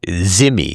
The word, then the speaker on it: dhimmi: That, in other words, they're treated like dhimmi or zimmi is the way it's pronounced on the Indian subcontinent.